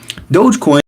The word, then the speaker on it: Dogecoin: very few people say it the correct way dogecoin cryptocurrency that was created as a joke is